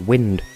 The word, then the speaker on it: wind: find that fight what why is mispronouncing wind funny in that context I don't care if you've only ever seen it written it's it makes no sense unless you pronounce it wind if fuckstick speaking of